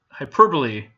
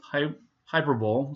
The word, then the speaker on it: hyperbole: personification and then last but not least is hyperbole not pronounce it is not pronounced Hy hyperb some people pronounce it that way but it's